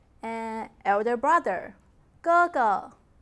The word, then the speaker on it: 哥哥: I, me, myself in Mandarin, 我, 我, and elder brother, 哥哥, 哥哥, elder sister, 姐姐, 姐姐. When two syllables are of the same composition, the second syllable will be pronounced as natural tone.